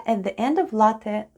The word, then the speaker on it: ЛАТТЕ: let's spell the word ЛАТТЕ /latte/: the first sound is /l/ then goes /a/ then double /t/ and E at the end. E at the end of ЛАТТЕ /latte/ sounds like Э /e/.